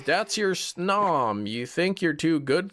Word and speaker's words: Snom: You pronounce snom like gnome.